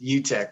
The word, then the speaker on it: Uttech: You almost nailed pronunciation that time. What's that? It's Uttech.